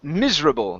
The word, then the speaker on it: miserable: Right here, instead of miserable, it's miserable. The stress is at the very beginning.